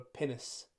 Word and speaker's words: pinnace: the script called a pinnace. And I had to look up the pronunciation for What's so funny about that? You're not going to believe me. It sounds like the word penis.